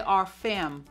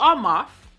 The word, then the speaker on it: Armaf: This one is Club de Nuit by Armaf. I always want to say Arfam. Dyslexia be kicking in sometimes. But it's definitely Armaf.